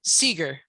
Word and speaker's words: Seeger: Seeger, Seeger.